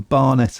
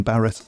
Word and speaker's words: Barnett: It's Barnett, not Barrett.